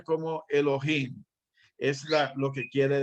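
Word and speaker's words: אלוהים: esta que está aquí arriba que pero se pronuncia como elohim es la lo que quiere decir entonces podemos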